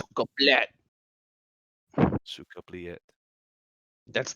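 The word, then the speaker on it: сука блядь: So You never pronounce the Y. It's suka blet.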